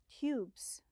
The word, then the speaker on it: tube: It has a long U sound. Excellent. Without the E, the magic E, it would be tub. With the E, it's called tube.